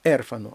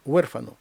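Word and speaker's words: huérfano: це перехідний звук у не у ерфано а урфано і наголошений складpспус ус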